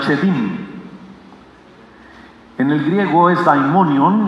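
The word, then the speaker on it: שדים: Pero hay una palabra bíblica que en hebreo se pronuncia chedim.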